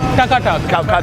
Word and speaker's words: Taka Tak: This place has it all, from modern comfort foods to more adventurous options, including something they call taka tak.